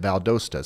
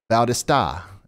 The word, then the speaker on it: Valdosta: state that they'll they'll they will pronounce it Valdosta some of them will say Bautista and you know if